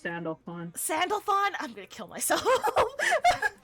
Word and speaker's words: Sandalphon: Pronounced Sandalphon. Sandalphon? I'm gonna kill myself. Sandalphon.